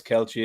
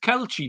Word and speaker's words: Kelce: Sorry, Baz, I don't mean to be pedantic, but are you going with Kelce there over Kelsey? Is that your pronunciation?